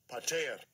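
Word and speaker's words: πατήρ: Pater. Pater. Pater. pater. Now, I know I've said it probably 500 different ways, but pater is the correct way to say it.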